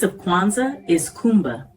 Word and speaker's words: Kuumba: Day 6 of Kwanzaa is Kumba, pronounced Kuumba, meaning creativity.